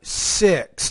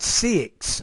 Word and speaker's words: six: annoying number six time you want to say number six not six but six number six town toy